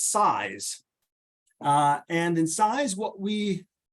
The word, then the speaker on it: CISE: We are called the College of Integrated Science and Engineering, CISE for short, which we pronounce SISE.